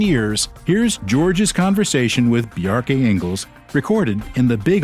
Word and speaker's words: Bjarke: pronounce your first name I normally explain it like there's a reference to Bjork because it's similar BJ yeah but the